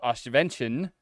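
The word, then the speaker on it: Oświęcim: The Nazis are building a labor camp by the town of Oswiecim. I think I'm not pronouncing that correctly.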